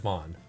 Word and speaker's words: Van: You'd actually pronounce that Vaughn.